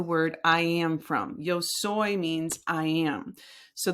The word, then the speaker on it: soy: Yos soy means I am. So the pronunciation of soy is right here. Soy right? So it's like soy milk or whatever.